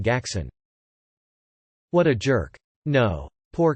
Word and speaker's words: Gackson: Also, I'm dying over here calling him Gackson with a hard G like everyone ever for his whole life will pronounce it.